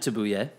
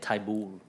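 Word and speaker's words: Thybulle: So they Like- drafted Tabuye. Is that how you say it? Taibul.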